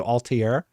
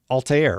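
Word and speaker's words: Altaïr: They're talking about doing an Assassin's Creed remake, and I'm telling you they need to do Altair. Or Altair, right? Altair. That's how they say it in the game.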